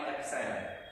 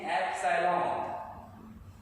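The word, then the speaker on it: epsilon: टू होता है 1 upon में 4 पाई एप्सिलॉन।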